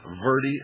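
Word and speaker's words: verde: call the post office box 3299 in Camp verie Arizona is still good I'll give you that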